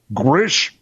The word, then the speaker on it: Gwrych: How do you say this word? GWRYCH. Grish Castle in North Wales this year instead of Australia.